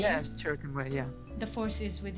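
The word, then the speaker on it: Chirrut Îmwe: This was, like, for example, is that how it's pronounced, his name? Yes, Cheriton Way, yeah.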